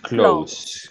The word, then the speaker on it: clothes: Clothes, Clothes, clothes, clothes, con TH, clothes.